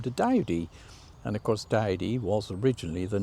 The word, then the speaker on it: Doughty: changed his name to Doughty. It was actually left by the Doughty family, or Dowdy it's actually pronounced, but they didn't have a male heir, so they wanted to continue the family's name.